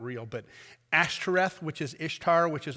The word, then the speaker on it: Ashtoreth: It's just not real, but Ashtoreth, which is Ishtar, which is also known by several other names, but that was the goddess that they worshipped that confused.